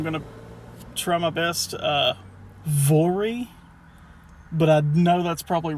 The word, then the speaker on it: Voirrey: Voirrey, but I know that's probably wrong. It's like Rory, but French. It's Voirrey.